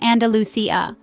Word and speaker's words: Andalusia: The dance emerged as a form of expression for the marginalized communities in Andalusia, pronounced as Andalusia, a region in southern Spain.